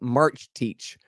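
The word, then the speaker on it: Marcetic: it's yesterday's man by bronco march teach it spelled like marsettic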